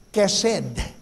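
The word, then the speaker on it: חסד: Ito po'y pinopronounce na may letter K sa una o may letter C sa una. Kaya pag pinronounce mo yung hesed, mercy, ang pronunciation po ay kesed.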